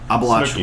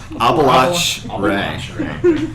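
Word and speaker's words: Abalach-Re: Abalach Snooki. Ray. Oh, sorry. It's not Snooky. How do you say Abel? Abalach Ray.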